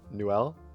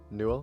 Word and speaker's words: Newell: I don't know how to pronounce his last name, but Gabe Newuel. Newell.